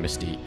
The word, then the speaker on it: Mystiqux: And I bet you're all wondering, Mystiqux. And yes, that's how you pronounce it.